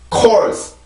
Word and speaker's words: course: course, course, course.